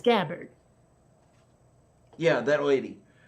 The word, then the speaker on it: Gabbard: Sanders listed third is Tulsi Gabbard a bird right so he she pronounces it so it's Gabbard yeah that lady right